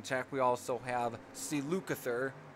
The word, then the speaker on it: Lukather: we also have si lukather Luke other I think it's the best way that pronounce his last name also provides some additional